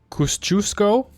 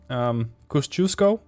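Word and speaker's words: Kościuszko: I don't know how to pronounce that. Kosciuszko, according to Google Translate. Kosciuszko.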